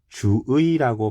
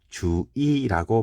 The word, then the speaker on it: 주의: 두 번째 의자가 잖아요 그렇기 때문에 주의라고 발음해야 하지만 발음이 너무 어려워서 주이라고 발음해도 욕 안 할게 용서해 줄게 이런 뜻이 되는 겁니다